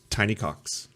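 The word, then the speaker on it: Tiny Kox: Spelt with a K. Pronounced Tiny Cox.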